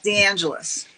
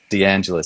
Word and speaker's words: DeAngelis: butcher your last name so how do you pronounce it correctly please DeAngelis DeAngelis so Jeannie DeAngelis Jeannie where are you currently